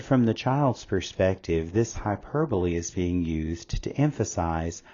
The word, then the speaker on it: hyperbole: of Anam anopia a hyperbole and please notice the pronunciation is hyperbole not hyperb is a deliberate exaggeration